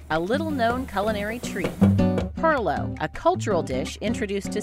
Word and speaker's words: Pilau: great-grandson of those early minorcan families that made Perlo his restaurant Aunt katees named after his grandmother